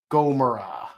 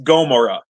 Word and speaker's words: Gomora: yes turtle turtle yes Gomora yeah gomorra man it's like it's like you you get one syllable wrong and like you change the the entire phrase you changed the entire context yeah yeah yeah yeah